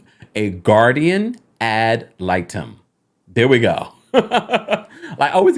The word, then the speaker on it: guardian ad litem: now Kroy is Seeking a look let me pronounce this correctly a guardian ad litem there we go I always got that one